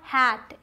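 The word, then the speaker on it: hate: तीसरा हैट, एच ए टी हैट, इसके साथ ई लगा दिया लास्ट में तो हो गया हेट. हेट मीन्स नफरत करना, यहाँ भी ये साइलेंट है.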